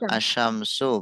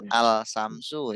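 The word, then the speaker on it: الشمس: Kalau dibaca seperti membaca kata syames dikasih al bacanya gimana? Tidak jelas. Untung melebur masuk ke syin melebur. Betul. Asyamsu bukan alsamsu ya kan.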